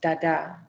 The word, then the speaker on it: Tata: a city called Tata, often written with the metat symbol for the soft T or D. It is pronounced Dada.